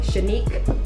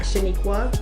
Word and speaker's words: Shanique: I'm on Facebook with just my actual government name, Shanique, not Shaniqua, not Shanika. Shanique. I definitely thought of Shanika. Everybody wants to do that. It's just Shanique, but it's spelled like unique.